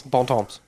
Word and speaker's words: Bon Temps: Bon Temps.